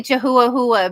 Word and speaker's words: Chihuahua: has a three-legged Chihuahua but we say jehuahua because how it's spelled Chihuahua so that's what we